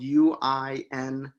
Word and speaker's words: Uinta: the tour was about how to pronounce the name spelled u-i-n-t-a and the way we found out it was said you could say it pronunciated uh Uinta was because the description for it was the way you say the name is you ask somebody if they're interested in mammals are you into mammals are you into Chipmunks